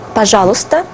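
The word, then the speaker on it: пожалуйста: and read it carefully pajala if you read it fast you do not pronounce these two letters and you can also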